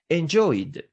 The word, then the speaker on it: enjoyed: Therefore, the ed suffix should be pronounced as D, enjoyed.